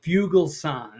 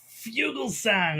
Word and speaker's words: Fugelsang: So I'm actually saying Fugelsang or whatever it was. If you're reading the lips. It's more song or sang. It's song.